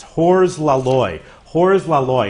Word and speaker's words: Hors la Loi: Hors la Loi. It's a French film. In French, it's pronounced Ugh le Loi.